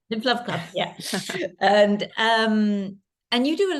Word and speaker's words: Lymph Love Club: Lymph Love Club, yeah.